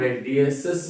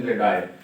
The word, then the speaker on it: radii: अच्छा, इसका कुछ लोग रेडियसिस भी बनाते हैं, हो जाता है, लेकिन इसका सही प्रोनाउंसिएशन रेडाई।